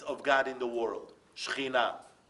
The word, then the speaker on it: Shekhinah: Shekhinah. That's exactly how you say it in Hebrew.